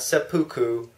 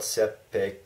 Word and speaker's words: seppuku: suicide that was eventually called sepu okay not seppuku there's no seppuku there's no Harry Carey that's